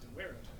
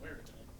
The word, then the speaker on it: daguerreotype: Apparently it's pronounced daguerreotype. Are you sure? Because you're the only person I've ever heard pronounce it that way. I've looked it up. It's apparently daguerreotype. Which is weird. I'm going to blame the French.